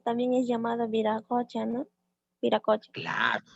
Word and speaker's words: Viracocha: Viracocha. Claro. Le llaman Huiracocha con W o Viracocha. La pronunciación viene a ser la misma, ¿no?